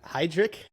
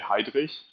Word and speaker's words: Heidrich: I mean, in Germany, you would say Heidrich, but to make it easy in America, you can say Heidrich.